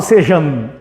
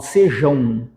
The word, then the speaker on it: sejam: é um de tongo Eu não falo sejan eu falo sejão então nós temos um ditongo nasal no final dessa palavra por que nasal porque sai pelo nariz beleza sai pelo nariz